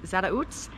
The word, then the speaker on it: Zarautz: we're walking 21 kilometers all the way to Zara UTS hope I'm pronouncing that right z-a-r-a-u-t-z and it's a two